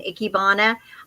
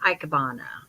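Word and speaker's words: ikebana: they call them an ikibana I've heard it pronounced an ikibana and I've heard it pronounced aabana and I always call ikyon it just sounds like it comes out better it reminds me of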